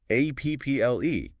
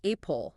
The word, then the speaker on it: apple: The word is apple, A-P-P-L-E, and pineapple, P-I-N-E-P-P-L-E. Pay close attention to the pronunciation here. Yeah. It is apple, not apple. Apple, pineapple. Right. It is a short, sharp sound at the beginning.